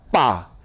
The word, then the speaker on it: pas: 읽어보세요 여기까지 그 다음에 끝에는 pas 이렇게 나와요 p는 빼죠 그러니까 쌍비읍 거기다가 아니까 빠 s는 발음이 없다고 그랬어요 다 이제 여기까지 다